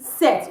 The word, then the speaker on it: cet: Instead, I will use CET, set.